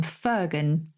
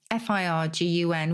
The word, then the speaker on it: firgun: And that is actually a Hebrew term, Firgun. F-I-R-G-U-N.